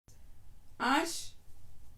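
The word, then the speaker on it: ARSH: A book called Ash. It's, you spell it with capital letters and say A-R-S-H.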